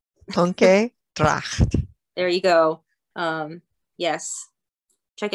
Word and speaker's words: Tonke Dragt: Tonke Dragt.